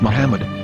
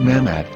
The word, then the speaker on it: Muhammad: According to Ben Yehuda's Hebrew English dictionary, it is correctly pronounced as Muhammad, not Mammoth.